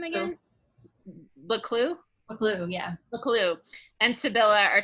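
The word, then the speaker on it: Buccleuch: So, okay, so then Boucle, is that how you say his name again? Baclou, yeah.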